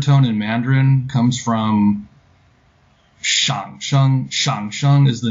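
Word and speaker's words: 上聲: But in middle, for the Middle Chinese tone name, it's pronounced with a third tone, so it's shang sheng.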